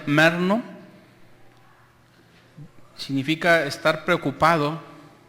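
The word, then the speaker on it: μεριμνάω: la palabra G 3309 que se pronuncia merno significa estar preocupado o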